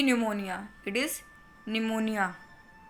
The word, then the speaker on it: pneumonia: It is pneumonia. P is silent.